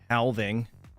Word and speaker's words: halving: Handshake having in 48 hours. Halving. I should have said it like that. Or Ted. Halving. Gotta pronounce the L.